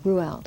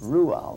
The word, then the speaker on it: Roald: Roald, okay. Roald, that's how you pronounce his name.